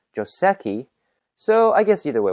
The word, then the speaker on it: joseki: word on the pronunciation technically it should be pronounced joseki as it is a loan word from japanese however most english-speaking go players say joseki so i guess either